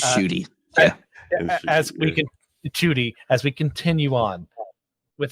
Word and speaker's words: Ncuti: Yes, it's Ncuti.